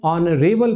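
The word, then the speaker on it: honorable: एन ऑनरेबल person. मेरे पिता एक सम्मानित व्यक्ति थे। तो my father was एन ऑनरेबल person. यहां पे आप एच का उच्चारण नहीं कर रहे हो।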